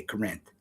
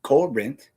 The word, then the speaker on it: Corinth: That's how you say it. You don't say Corinth. You say Corinth. Heavy emphasis on the co.